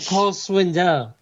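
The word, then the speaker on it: Cole Swindell: sauerkraut at first there no i said cole's window okay that's how it's pronounced yeah um i uh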